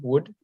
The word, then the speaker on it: would: Would? Would. Try again. Would. It sounds the same as this word.